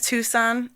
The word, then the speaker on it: Tucson: Oh, isn't it Tucson, Arizona? Is that how it's pronounced?